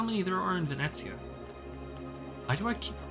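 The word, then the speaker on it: Venezia: the the proper pronunciation based on the language is Venetsia.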